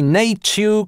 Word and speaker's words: nature: William Kenrick в Новом словаре английского языка, изданном в 1773 году тоже отмечает как модные новинки nature, creature и сличает их столь же благозвучными, как и более консервативные nay-tyoo, crea-tyoo. However Mr Kenrick не включил